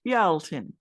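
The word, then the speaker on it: Bealltainn: I know that in Irish it's Bealtaine, and in Scottish Gaelic it's pronounced Bealtin, and in Wales it's called Callan Mai.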